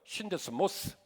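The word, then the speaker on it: σύνδεσμος: 오늘 본문의 말씀이 평안에 매는 줄이라고 하는이 매는 줄은 헬라어로 데스모스라고 읽어요. 신데스모스.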